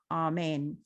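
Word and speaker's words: אָמֵן: And because in Hebrew it's amen. That's how it's pronounced. Not amen, not amen or amen. It's amen. It's kind of like AHMEIN would be how you would phonetically spell it out.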